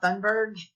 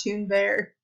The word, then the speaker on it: Thunberg: bank and earth and apparently miss pepper was saying her name wrong the entire time it is true and bear I think it's the way they said it so not fun bird it's tuned there I don't speak Swedish all right who gives